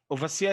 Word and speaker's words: overseer: exception overseer okay one two three four overseer overseer is an exception the first syllable not from the end is stressed okay